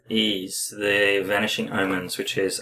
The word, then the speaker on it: Ys: s it's y s so it's e e ease the vanishing Omens which is a Master System